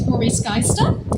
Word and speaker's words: Roary Skaista: so yeah as Brian said my name is Rory skyester that is spelled r-o-a-r-y-s-k a i s t a it's